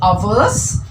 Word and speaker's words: hours: Peter has been watching TV for 2 hours. This H is silent. මේ H එක අපි pronounce කරන්නේ. It is hours.